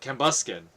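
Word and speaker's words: Cambyuskan: I pronounce that right uh cambusken cambusken is how we're going to pronounce it cambusken was the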